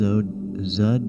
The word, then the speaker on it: Xud: So this is Zud's page. SoundCloud, Zud is spelled Xud.